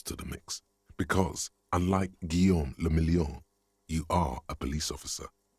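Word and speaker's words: Guillaume Le Million: meant only one thing guillaume lamillion if it doesn't rhyme you're not pronouncing it right out of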